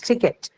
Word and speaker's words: ticket: because uh in the word ticket the stresses on the first syllable hence to get the first in the word ticket is aspirated so it's ticket okay next one testify